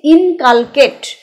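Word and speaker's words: inculcate: ফর্মে যুক্ত হবে ডি উচ্চারণটা আবার বলছি ইনকালকেট হৃদয় নিবিষ্ট করা কারো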